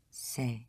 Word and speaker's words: c'est: So again, it is, C'est right, say, yes. So it is for me, c'est pour moi. c'est pour moi, yes.